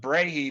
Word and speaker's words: Brahe: probably Continental words so they're really hard to pronounce but Brae b r ah h e is his name